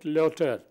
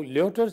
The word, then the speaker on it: Lyotard: Now the French thinker I was going to talk about is Lyotard, L-Y-O-T-A-R-D. In French, last syllable is not pronounced. D will not be pronounced. So they call it Lyotard.